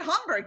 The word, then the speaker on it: Hamburg: Obviously, because you said Hamburg, you said it right. So obviously you spent some time there to properly pronounce it. So good job. I love Hamburg.